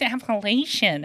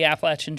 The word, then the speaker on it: Appalachian: And they're like, "It's Appalachian." And I'm like, well, if you say apple appellation, then I'm going to throw an apple at you. That's how you say it.